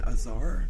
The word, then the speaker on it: Azar: And this was written by Caroline Azar. Did I pronounce that right? Yes. Azar?